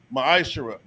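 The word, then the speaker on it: מעשר: It means tenth in the Hebrew. It's pronounced ma'ashara.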